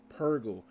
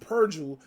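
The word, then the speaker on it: Purrgil: And please, Lord, when anybody who's watching this show understand that that's how you pronounce that word. Purgle. Not Purgle, not Purgle, Purgle.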